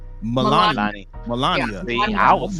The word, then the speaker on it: Melania: thing about it is, as far as Melania Trump, right?